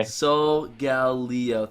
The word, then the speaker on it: Solgaleo: Solgaleo.